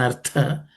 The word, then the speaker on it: artha: Spelling or pronunciation aspect, yavan artha, this tha is aspirated.